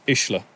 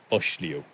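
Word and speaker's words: Uisliu: to come from but his name is ishla not OSH Leo like some people will say I'd add one more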